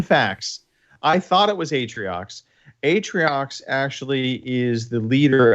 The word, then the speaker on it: Atriox: And how do you pronounce the baddie, the villain, Artrox? Well, so Atriox. He looks like Pitchin. Yeah, Atriox definitely.